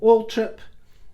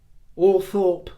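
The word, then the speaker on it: Althorp: sort of prescribed pronunciation under the entry for ult trip it gives all three of those variations the first being ult trip used by the family the second or Thorp that is more used by the local neighborhood to point at it and thirdly it gives the option of all throp which it says is now old-fashioned but they're all valid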